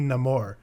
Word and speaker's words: Namor: what the hell so for me I pronounce it no more because I'm sticking with what actually culturally's name is but I just found